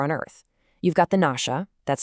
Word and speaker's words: Nashia: You've got the Nasha, that's spelled Nashia, who he says look kind of like ancient Mayans.